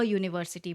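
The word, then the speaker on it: university: एक vowel letter है, बट यू का साउंड जो है वो डिफरेंट है। यहाँ पे यू का साउंड हो रहा है यू, जो कि एक कॉन्सोनेंट साउंड है, इसीलिए हमने यहाँ पे अ यूनिवर्सिटी बोला है।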